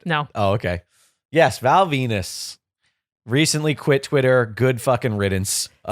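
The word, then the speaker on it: Venis: porno man his name his name rhymes with something that's very obvious it's the obvious joke his his first name is Val Val voluptuous it's like you're not learning anything Venus there it is Val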